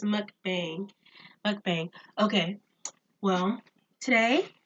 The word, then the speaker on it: mukbang: gonna say it wrong I said bong and that's probably not it my brother was like you know it's mukbang but bang okay well